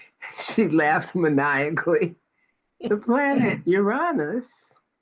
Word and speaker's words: Uranus: The planet Uranus, which I don't really pronounce Uranus, but it's Uranus.